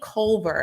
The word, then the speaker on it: Culver: to introduce you all uh to anthony anthony culver am i pronouncing your last name correctly yep yes who